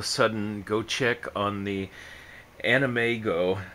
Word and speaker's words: AnimEigo: go check on the animego site i believe that's how it's pronounced a-n-i-m-e-i-g-o it might be an amigo but um you know